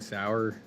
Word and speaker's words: Sauer: Sauer.